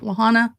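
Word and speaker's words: La Junta: Like what came through Camp Laanta, which is how you say it, Camp Lahana or everybody does here.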